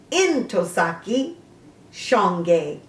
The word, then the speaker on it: Ntozake Shange: And here from Wikipedia, it is pronounced Ntozake Shange.